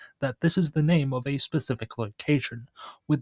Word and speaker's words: 名: This is pronounced as na in Japanese and ming in Chinese.